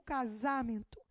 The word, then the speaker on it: casamento: o Man ora porque eu não digo casamento e nem casamento eu